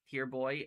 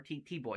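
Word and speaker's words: T-Boy: Uh tier boy uh or T- Boy, I'm sorry, T boy.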